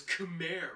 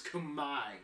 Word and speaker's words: Khmer: to the cambodian ethnicity the technically correct term to refer to the cambodian ethnicity would be kumai yeah that's right all this time you thought it was khmer right no it's kamai the r is silent and the e is an i the cambodian language is